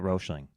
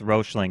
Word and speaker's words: Roechling: Why do we put the E in there when they don't see it anywhere else? So Just to you get have us to say it correctly? try. I don't even know if I always say it correctly. Yeah, I hear Roechling. I've heard a lot of different versions of your guys' company. I just go with Roechling